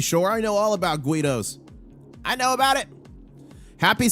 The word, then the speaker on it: guido: Uh Rick Harrison says, you mispronounced uh guido is multifaceted. More recently, it has come to refer to the working-class urban Italian. Oh, guido.